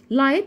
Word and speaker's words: light: light بمعنى do. يبقى اول حاله عندي في الجي والاتش بنطقها ازاي؟